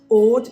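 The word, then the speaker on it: Aude: department of odd and I'm pronouncing it as odd because I'm British and that's the way we say odd. We know full well in French it has got a duh sound on the end. So like order.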